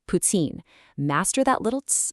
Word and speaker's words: poutine: In Quebec French, when a T is followed by an I, it creates the subtle ts sound. So, you don't say poutine, you say putsine.